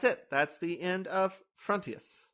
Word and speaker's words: Frontios: That's the end of Frontios. I said it right that time. We're gonna take Frontios. God damn it! No, it's Frontios.